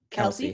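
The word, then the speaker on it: Kelce: How do I pronounce this person's last name? Travis Kelsey.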